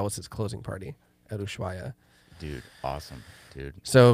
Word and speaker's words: Ushuaia: I saw you play Ushaya. Is that how you say it? I don't know. Ushaya? I don't know. I thought it was Ushuaia. Probably. Ushuaia.